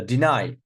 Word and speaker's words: deny: Look, so deny also second.